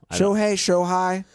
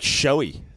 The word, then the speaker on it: Shohei: I always wonder if I pronounce the name correctly. Yeah. Shohei. I thought it was like Shoei.